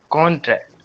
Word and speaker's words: contract: if it is being used as a noun, then it will be on con. Yeah, it will pronounce loud contract.